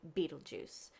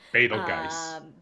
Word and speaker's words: Betelgeuse: Betelgeuse. Or Betelgeuse, which is probably the more proper pronunciation for it. Anyway, not spelled like either of those, but it's gonna go supernova.